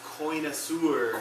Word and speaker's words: connoisseur: It's pronounced connoisseur. Connoisseur.